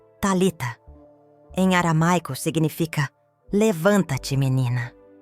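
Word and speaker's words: Talitha: Talita. A segunda sílaba deve vibrar na garganta, como um zumbido.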